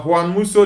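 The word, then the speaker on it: Juan Musso: Juan, is it Dan or Juan Musu? According to Spanish pronunciation of the name, uh Juan Muso, the goalkeeper of Atletico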